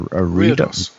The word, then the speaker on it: reredos: is the picture of the how do you pronounce that again? A reredos.